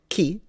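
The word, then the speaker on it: 木: is tree this will be the kanji it's pronounced key and of course it's not what we are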